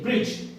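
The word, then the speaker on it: bridge: है कॉन्सोनेंट है और जीबी कॉन्सोनेंट है देखिए ब्रिज क्या ब्रिज अब ब्रिज है ना ब्रिज ब्रिज की स्पेलिंग देखिए आप ब्रिक क्या होते हैं बोलो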